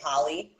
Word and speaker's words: poly: So just so you know, I pronounce it poly. So when I talk about it, I'm gonna say poly. Yes, so whenever you shorten it, it's like poly, yeah, polyamorous. Yeah. So I say poly because I have my Bronx, Brooklyn accent, and my pronunciation sometimes is quite different.